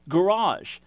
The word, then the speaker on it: garage: which is which or take garage right a hard jjigae and a soft G jaw how do you know